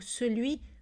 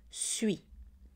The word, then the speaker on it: celui: Dans le français conversationnel, on prononce souvent le mot celui, suis. Celui-ci devient suis-ci et celui-là, suis-là.